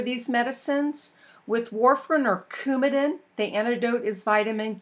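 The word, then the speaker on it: Coumadin: medicines with warrin or cumin the antidote is Vitamin K it's kind of that hard C sound so cumin is Vitamin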